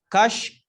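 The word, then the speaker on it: kaş: Kash, kush, kosh. Tuh. Kash, kush, kosh. Kosh. Jangan sampai salah. Nyebutin kash, jangan mirip kush, jangan mirip kosh.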